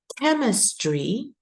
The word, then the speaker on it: chemistry: right two phys is chemistry observe the uh the spelling here which is CH and uh the sound is C let me uh enlarge